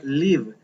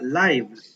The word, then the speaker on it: live: escribir en el espacio y hacer una aclaración que libro cuando el verbo se pronuncia libre pero cuando estamos hablando